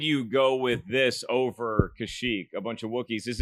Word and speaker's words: Kashyyyk: Kashyyyk.